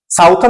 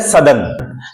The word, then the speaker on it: Southern: इसको साउथ पढ़ेंगे, लेकिन SOUTHERN साउथर्न नहीं पढ़ेंगे, इसको पढ़ेंगे सदर्न।